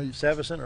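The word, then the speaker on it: Savvis Center: I didn't know how to say it, but now Savas Center.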